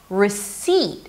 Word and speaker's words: receipt: A held T is a T that is not really released. I bring the tongue up or I block the air here, receipt, and that's the T.